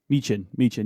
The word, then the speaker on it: Michin: Michin, yeah.